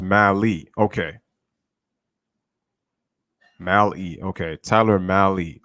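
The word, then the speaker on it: Mahle: he was good also it's pronounced mali okay mali okay tyler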